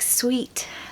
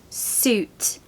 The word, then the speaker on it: suit: three suit of course it looks like sweet doesn't it but it's not the hack is that it's suit double O suit like boot okay same pronunciation different first